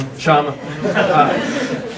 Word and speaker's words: Kshama: Also, I am absolutely honored to welcome Council Member Sawant over to, I'm sorry, did I pronounce that wrong? Kshama.